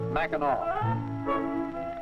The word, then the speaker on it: Mackinac: with aw or AC at the end the pronunciation is the same mcov after the 1953 Detroit Motor City motivator we